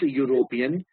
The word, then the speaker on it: European: When you pronounce European, U, the sound is that of U again. Y-O-U-U. A European country. Because the sound is consonant, that is why we use a.